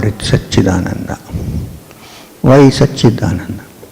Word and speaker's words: Satchidananda: Why Satchidananda? The word Satchidananda is split into three syllables. The first syllable is Sat. The second syllable is Chit. And the third syllable is Ananda.